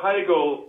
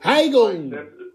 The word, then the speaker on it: Hagl: Oh, Hagl. Hagl. Well, the German pronunciation is Hagl, but I accept Hagl.